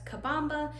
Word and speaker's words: Kabamba: call it Kaba but going forward I'm going to be pronouncing it and spelling it on my website as kabamba I finally confirmed that